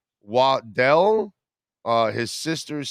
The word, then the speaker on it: Waddle: were explaining the same Jalen's last name is Waddell um it's not waddle it's Waddell but Jalen says